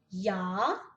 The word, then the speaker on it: ja: Então, ja é um J, mas tem um som de E.